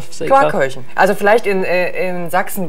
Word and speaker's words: Quarkkeulchen: Wie spricht man das aus? Quarkkeulchen.